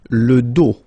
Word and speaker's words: dos: Final S not pronounced. Okay? Le dos.